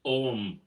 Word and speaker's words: Aum: with their om art it looks like it's spelled AUM but it's pronounced om you know like the old Transcendental Meditation chant oh and it's a